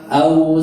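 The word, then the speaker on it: أو: Iya, perhatikan au bacanya betul-betul u ya, bukan o.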